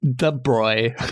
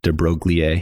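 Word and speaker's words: de Broglie: De Bruy is how the computer says. Yeah, but de Bruy apparently is there's a clip of Fineman pronouncing it debrogier and he's like, I'm a terrible American and that's how I pronounce it. And I don't know, that's always stuck with me, but that is how I learned it is drogier, but I know that's not right.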